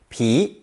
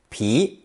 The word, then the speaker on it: 皮: This character is pronounced second tone, pi, pi, and means an animal's skin, fur, hide, and leather, or a plant's rind, bark, or peel.